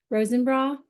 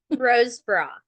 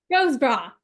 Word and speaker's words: Rosebrough: Rosenborough. How do you say it? Rosebra. Rosebrough. Okay, I don't know why I said the N in there, but Rosebrough.